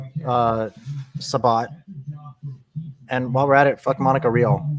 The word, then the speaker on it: Sabat: And and Chris and Chris Chris Sabat. I don't care if he wants his last name to be pronounced as Sabbat. I'm saying Sabat. I'm I'm saying it how I read it.